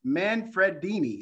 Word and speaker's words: Manfredini: Manfredini. Is that correct? It's correct. You pronounce it perfectly.